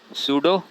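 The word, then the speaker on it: pseudo: खतरनाक सा नाम है, सूडो, इसमें P साइलेंट है, तो सूडो पोडियो स्पोर्स।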